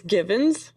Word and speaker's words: Givens: It's given Given. GI V as in Victors.